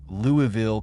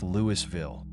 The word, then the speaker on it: Louisville: A young lieutenant was arrested because he pronounced Louisville correctly. The interrogator, who had never been to Kentucky, thought it was pronounced Lewisville.